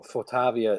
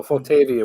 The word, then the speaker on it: Photavia: right to it um you guys pronounce it in the european uh so fortavia it seems to be the european version so fotavia we say here probably behavior that's the